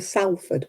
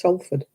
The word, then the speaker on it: Salford: Or you are going to Salford. Where the heck is Salford? It's Salford. You know, they pronounce it wrong.